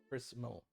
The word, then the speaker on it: Crysmal: Crysmal. That's absolutely a Chrysmal. CRY. CRYSLAM? MAL. Chrysmal. Mal. Like a crystal, but with an M instead of a T.